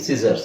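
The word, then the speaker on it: scissors: ಈ ಪದ ಹಿಂಗಿದೆ, ಹಿಂಗೆ ಓದಿ ಸಿಸರ್ಸ್. ಇಲ್ಲಿ ಸಿ ಒಂದು ಸೈಲೆಂಟ್ ಆಗಿದೆ ಅಂತ ಹೇಳ್ಬೋದು.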